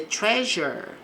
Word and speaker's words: treasure: Então eles vão enterrar the treasure. O S aqui ele vai ter um som de J.